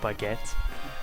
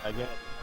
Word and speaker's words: baguette: Baguette? Baguette. Yeah. Like bag and then at.